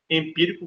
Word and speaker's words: empírico: eu posso acentuar tranquilamente palavra empírico empírico vai ser o qu a última penúltima antepenúltima sía então a antepenúltima é a mais forte gabarita aí eh na